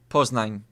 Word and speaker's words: Poznań: Poznań? Poznań. Am I pronouncing that right? Poznań. Poznań. Is that right? Am I pronouncing that right? Poznań.